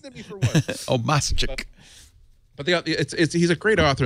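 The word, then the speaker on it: Obmascik: It's Obama with a chick at the end. See, how your brain trips you up. So, Obama. I know how. No, it's not Obama.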